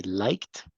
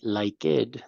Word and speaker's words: liked: good Talia but Alia remember that the verb liked is going to be pronounced like a t like he liked to play basketball okay okay we don't say like it no we have to